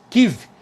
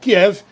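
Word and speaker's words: Kyiv: tá é exatamente a capital 15 como dizem os ucranianos ou Kiev que é uma outra pronúncia aí que a gente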